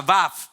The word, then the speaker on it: Vav: Y esa palabra se pronuncia Vav, B corta, A, B corta.